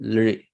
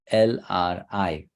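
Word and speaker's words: ऌ: So this is called Lri. It should sound like L-R-I. Lri.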